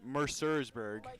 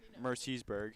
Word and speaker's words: Mercersburg: getting word now that it's actually pronounced Mercurburg, not Mercy'sburg.